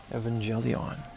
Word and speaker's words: Evangelion: Evangelion, which is the only way to pronounce it.